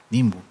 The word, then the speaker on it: Nimbu: Esta botella de agua que nosotros le pusimos Nimbu es un término chorotega que significa agua, si se pronuncia Nimbu, y si se pronuncia Nimpu es lluvia.